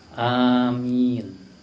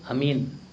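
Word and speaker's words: آمين: riwayat manaun juga Iya cukup kita ucapkan apa Amin Iya itu pengucapan yang benar a dua ketuk Min boleh diucapkan sampai enam ketuk ya Kenapa karena itu disebut dalam ilmu tajwid apa Mad Arid lisukun iya yang salah itu Amin kalau Amin artinya beda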